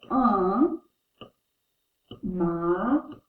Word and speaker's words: un magasin: This is a masculine word, so we pronounce it un magasin.